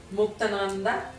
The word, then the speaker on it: Muktananda: Muktananda.